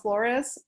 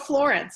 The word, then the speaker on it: Florence: copy from the author debbie michiko flores debbie mitchiko no i'm sorry i'm getting her last name wrong but it's on the cover demi michiko florence i had it right um and she sent